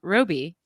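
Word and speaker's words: Robbie: then Margo ro ro Roby I'm gonna pronounce it Roby because that's how Margot the real Margot Robi pronounces it she says I can't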